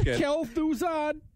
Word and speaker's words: Kel'Thuzad: so you have to tell me about the pronunciation on some of this stuff guys the next ramos it's kel'thuzad yeah enough about it works nice okay well